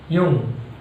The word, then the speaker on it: Jung: Jung, pronunciation is Jung.